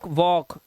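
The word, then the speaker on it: walk: देखो के से पहले कौन कौन से आए हैं, ध्यान से देखिए, ये देखो के से पहले आया एल, तो ये टॉक, वॉक, एल पहले है के से, चौक।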